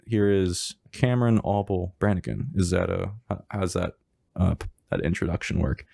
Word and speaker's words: Cameron Auble-Branigan: Today's episode is Take 12 with Cameron Auble-Branigan. That's pronounced right?